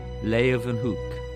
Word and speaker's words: Leeuwenhoek: L-A-Y, lay, u, then, they pronounce it with a V, Hoek, Leeuwenhoek.